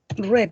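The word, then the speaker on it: read: se dice el rey se escribe igual pero se dice red como el color rojo pero se escribe igual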